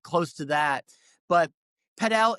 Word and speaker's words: Padel: There's a new Padel is how they pronounce it, club that's opened up, in the next to the Mink building down on 126.